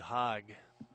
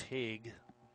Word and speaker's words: Haig: that's a Zack Hague sure it's not hug back when I was in high school there was a sinner at Manitowoc last name was spelled the same they pronounce it Hogg but this one's Haig but in either case